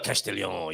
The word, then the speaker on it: Castellón: Peníscola, Castellón. You have to say it like that.